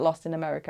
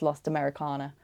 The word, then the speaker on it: Lost Americana: I've been calling it Lost in America and it's Lost Americana.